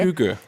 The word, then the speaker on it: hygge: Hygge. 스펠링은 Hyggee 이렇게 Right. 쓰죠. So it is Hygge. pronounced hygge. 휴거.